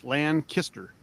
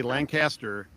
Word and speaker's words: Lancaster: Got to say it right, Lancaster. Like L-A-N Kister. If you say Lancaster, you're not local.